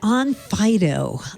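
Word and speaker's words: Onfido: and identity verification definitely the pronunciation okay like a doggy yeah on Fido I know there's so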